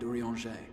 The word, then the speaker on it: Urianger: That is where you'll find Urianger. There, I pronounced it right.